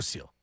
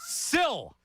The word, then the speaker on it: sill: It's not sealed. Kiss from a rose. Sill.